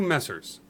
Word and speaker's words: Messrs: Two Messers, and that's MESSRS, which is an old British phrase addressing a group of men. Okay. Yeah, Messers. Messers. That's how it's pronounced. Like Mr. Misters?